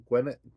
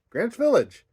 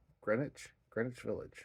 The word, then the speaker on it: Greenwich: Gwyneth, not Gwyneth. Greenwich Village. Holy moly, that was like pulling teeth. I still don't think I'm saying it right, but Greenwich Village, right?